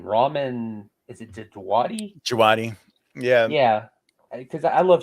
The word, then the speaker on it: Djawadi: Djawadi.